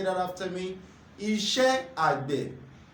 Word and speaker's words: Iṣẹ́ Àgbẹ̀: Farm Work, which Yoruba call Iṣé Àgbè. Iṣé Àgbè. Can you pronounce that with me? Can you say that after me? Iṣé Àgbè. Iṣé Àgbè.